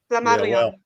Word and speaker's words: Flammarion: Whose lord is liege of, and I can't pronounce that, Flammarion, and descendant. Flammarion. Yeah, I can't really. Flammarion, maybe. Yeah, Flammarion. Yeah, and descendant of the It's a harder R.